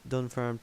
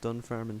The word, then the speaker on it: Dunfermline: And Dunfarm Town, say no more. Okay. Dunfermline Town, I pronounced it wrong. Dunfermline Town.